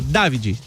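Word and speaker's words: Davide: Ontem eu, pela primeira vez, eu vi o próprio pronunciar o nome dele, ele falou: "David, David.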